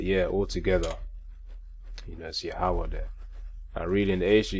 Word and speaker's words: Yahawah: then when we say Yahawah you know Yahawah meaning he is he exists or he is to be just to get the understanding you know uh that's the way it's pronounced you know Yahawah of